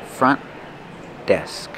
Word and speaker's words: front desk: up front front desk use a stop t for front do not release The Sound Don't say front desk but front desk link the sounds front desk front desk